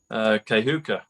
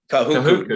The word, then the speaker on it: Kahuku: So Kahuka, if I said it right. If I said that right. Kahuku, yeah.